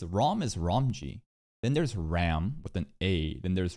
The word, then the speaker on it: Ram: they seem like PR why do people pronounce Ram as ROM I don't understand because ROM is ROM then there's Ram with an a then